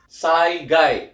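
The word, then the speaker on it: 災害: Cara baca adalah saigai ya.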